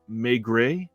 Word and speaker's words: Maigret: watching and said that it's pronounced Maigret. That's the French pronunciation, so that helps.